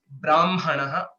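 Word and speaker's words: ब्राह्मणः: in a traditional way will be pronouncing it as Brahmanaha, haka, this makara first and then ha, and similarly Madhyanha, Aparanha. Okay, that is how it is pronounced.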